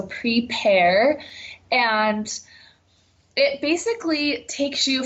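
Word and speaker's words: Prepear: is our new app it's spelled like the fruit PE AR so prepare and it basically takes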